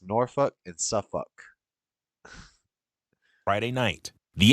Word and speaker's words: Norfolk: It's pronounced Norfolk. True story. If you ever go to Norfolk or Sofolk, Virginia, the people there will let you know real quick. It's Norfolk and Suffuk.